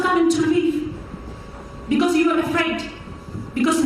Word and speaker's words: Lviv: not in kiev and the other city lviv is actually pronounced leave i i thought it